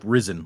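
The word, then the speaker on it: Rysn: I went and looked up how you're supposed to pronounce risen and the the consensus seems to be it's like like risen like he has risen sort of thing.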